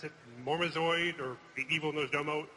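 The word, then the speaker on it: Murozond: In the upcoming 4.3 End of Time, we get to kill, how do you pronounce it, Mormazoid, or the Evil Nosdomo? Murazond.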